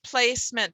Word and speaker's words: placement: step three vowels one that e is silent there place meant it's not placement it's placement because i was aware of that suffix and e it's on your flow chart e in front of a consonant suffix is silent okay here we go